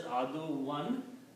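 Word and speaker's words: عَدُوًّا: It will be pronounced as aduwan because kana is changing the two dhammas to two fathas.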